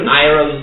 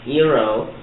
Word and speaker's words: Iroh: Euro. That's Euro. That's not how they say it in the show. Really? No, Yeah, they say Iroh. It is Iroh.